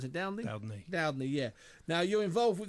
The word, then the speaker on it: Dowdney: How do we pronounce it? Dowdney? Dowdney, yeah.